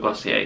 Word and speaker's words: Glossier: We're going to stick with Glossier even though I'm European.